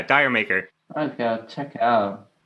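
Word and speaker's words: D'yer Mak'er: i think it's called i don't know if it's pronounced dire maker yeah dyer maker oh yeah check it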